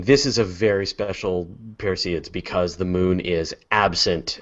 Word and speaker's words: Perseids: It's pronounced Perseids. Perseids. Perseids. I looked it up online. It's like I say Parasides, but you know.